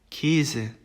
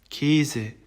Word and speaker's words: Käse: 그 다음에 이제 아움라우트 같은 경우에는 발음을 이제 에라고 하는데요. 일반적으로 쓰이는 아보다는 입을 조금 작게 벌려서 발음을 합니다. 그래서 예시를 들면은 März, März, Käse, Käse 이렇게 됩니다.